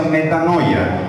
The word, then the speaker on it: metanoia: La palabra arrepentimiento viene del concepto que traducido al español se pronuncia metanoia, que significa cambio de mentalidad.